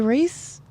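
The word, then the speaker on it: Reiss: hour oh uh historia race you said your name was yeah so um we get the pronunciation of the last name and it's not or rice it's actually like race oh race yeah like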